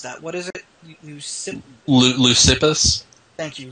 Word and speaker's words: Leucippus: I can't pronounce that. What is it? Leucippus? Thank you. Leucippus.